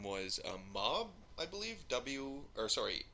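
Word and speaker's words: MAWB: The player's name was Mob, I believe, M-A-W-B, so I think it's pronounced Mob. We're going to go with Mob anyway.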